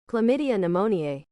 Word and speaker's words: Chlamydia pneumoniae: Chlamydia pneumoniae. Okay, that is pronounced chlamydia pneumoniae. Chlamydia pneumoniae. That is a mouthful.